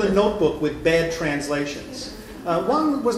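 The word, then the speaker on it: 王: Now in Mandarin they're pronounced differently. One of them is Wang, and one of them is Huang. But in Cantonese and in Toisan dialect they are homonyms. They're both Wang.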